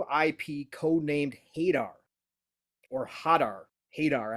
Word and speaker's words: Hadar: Hadar, I think is how it's pronounced. Hodor. H-A-D-R. I don't think it's Hodor. Hodor.